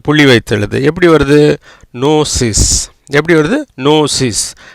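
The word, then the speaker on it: gnosis: எப்படி வருது, நோசிஸ். எப்படி வருது, நோசிஸ். கினோசிஸ் இல்லைங்க, நோசிஸ். இப்படி ஜிக்கு அப்புறம் எண்ணு வந்தால் அந்த ஜிக்கு உச்சரிப்பு இல்லை.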